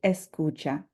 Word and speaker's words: escucha: To just say listen, we would simply say escucha. And I've underlined the cu, to indicate that we will emphasize that syllable when we say this word, escucha.